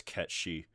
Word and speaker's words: Cait Sith: like that because uh Cait Sith is based off an actual mythological like a figure from specifically Irish and or Scandinavian myth and the way they pronounce over there is Cat Sìth.